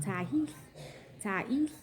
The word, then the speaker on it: Tiahease: when another resident of the motel asked Tiahease, pronounced Tiahease, to go to a local market to give them a pack of chicken wings.